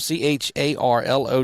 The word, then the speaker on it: Charlot: Jayla Charlo. Charlotte. C H A R L O T. Charlo the catcher. And And again, if I butcher these names, it's just because I'm from north of here.